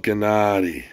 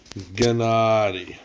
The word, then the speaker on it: Gennady: everybody this story of Gennady pronounced gay not e this is a really